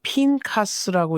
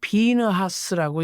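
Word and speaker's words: Pinchas: 히브리어로는 핀카스라고 읽고 영어로는 비느하스라고 읽습니다.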